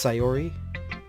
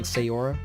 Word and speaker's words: Sayori: Oh, by the way, I guess it's Sayori. I was pronouncing Sayora, but or Sayori.